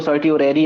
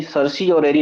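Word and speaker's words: certiorari: को बता रहे हैं, इसको सर्टी ओरेरी आप पढ़ेंगे, सर्टी ओरेरी, सरसी ओरेरी नहीं पढ़ेंगे, ठीक है ना, क्योंकि कहीं कहीं सरसी ओरेरी भी आप प्रोनाउंसिएशन उसका देख सकते हैं, बट सर्टी ओरेरी हम देखेंगे।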